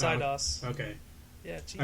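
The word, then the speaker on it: Eidos: idos idos yeah idos idos idos idos it's idos okay yeah I pronounce all sorts of things incorrectly I'm sorry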